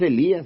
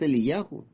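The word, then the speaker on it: אליהו: neem yahu no es Elías es eliahu no es es es yeshayahu no es Samuel es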